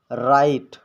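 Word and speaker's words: write: आर से पहले डब्लू आता है तो डब्लू साइलेंट रहता है जैसे राइट रिस्ट होल हो इसमें आप देख सकते हैं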